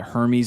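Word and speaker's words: Hermès: this finding that represents Hermes which is dope to see uh I like the way you say Hermes Hermes whatever Hermes yeah dude no but what's called Hermes yeah yeah Ryan's rhymes with herpes so so hey GIF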